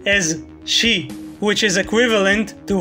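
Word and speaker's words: 四: as de number four at least sometimes is pronounced as she which is equivalent to how you pronounced the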